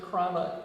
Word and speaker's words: Cranach: And and it's important to pronounce it Cranach because that's why I spelled it.